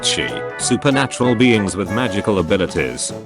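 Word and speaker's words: Sidhe: based on the Irish mythology of the Sid, pronounced she, supernatural beings with magical abilities like the Banshee. In Scotland, Sid is spelled Sith, still pronounced she, and George Lucas has Scottish in his ancestry.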